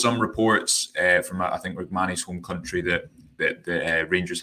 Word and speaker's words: Rrahmani: Am I pronouncing that right? Rrahmani. Rrahmani, there we are.